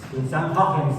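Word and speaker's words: Christiaan Huygens: En el continente europeo, en los Países Bajos vivía otro naturalista, podemos decir, o filósofo, eh Christian Heinens, Christian Hens que se pronuncia en holandés, Christian Hoffens, que también se interesó en ese tipo de cosas.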